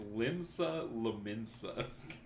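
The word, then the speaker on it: Limsa Lominsa: fantasy one of the starting towns uh it's pronounced limsa linza it's very hard to say you didn't even say it correct it's limsa lensa that's what I said I might have needed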